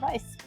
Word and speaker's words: Weiss: said, is that she helped pioneer the Florida Weiss. So, did I say it right that time? Yeah. The Florida Weiss, yeah.